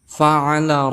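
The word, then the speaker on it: فَعَلَ: huruf Fa di mana Fa Ini termasuk huruf hams maka kita cara membacanya adakan nafas atau angin yang keluar fa'ala Rob di sini juga ada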